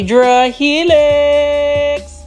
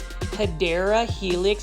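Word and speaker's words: Hedera helix: This is a Yra helix or the correct way to say it is Hideera Helix or what you call the English ivy.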